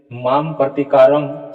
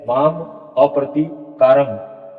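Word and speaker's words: मामप्रतीकारम्: इसलिए यहाँ आप देखिए, यहाँ पर दिया गया है यदि माम प्रतिकारम शस्त्रम शस्त्र पानीय, ऐसा उच्चारण होगा?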